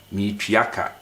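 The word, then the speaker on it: meretua ka: We write meritria, but we say me, the R is silent, totally silent when you are pronouncing it.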